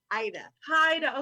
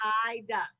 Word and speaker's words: Aida: Haida. Okay, I'm gonna say Haida. Haida. A-I-D-A. The A is silent. Ida.